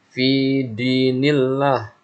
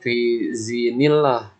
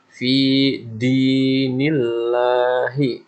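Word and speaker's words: في دين الله: Lalu kemudian banyak juga di ayat kedua yang salah nih. Fi dinillah. Kemarin banyak juga yang bacanya fi zinillah, pakai zi. Lihat di sini huruf dal. Fi dinillahi. Ya, perhatikan fi dinillahi.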